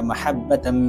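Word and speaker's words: محبة: এই আয়াতের মধ্যে মাহাব্বা এই শব্দের মধ্যে হা আছে, অত বড় হা আছে। এই জায়গাটাতে হা উচ্চারণ করতে হবে। হার জায়গায় যদি ছোট হা অর্থাৎ হা যদি উচ্চারণ করেন তাহলে অর্থ পরিবর্তন হয়ে যাবে, আর অর্থ পরিবর্তন হলে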